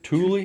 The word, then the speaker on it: Thule: This is brand new straight from how's it pronounced? Thule? Thule, yeah.